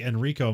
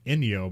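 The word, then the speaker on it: Ennio: if for some reason I used to say it was like Enrico morricone but like his name's like inio morricone and I'm like oh I guess I've been saying it wrong the whole time or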